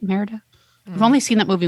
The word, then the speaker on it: Merida: just hanging out with meredith oh that's how you say it merida i've only seen that